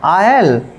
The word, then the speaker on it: aisle: इसमें आपका ये जो आपका लिखा हुआ है, यानी कि जो एस बना है, इसका हम प्रोनाउंसिएशन नहीं करेंगे, इसको छोड़ देंगे, तो इसको पढ़ेंगे आयल, आयल।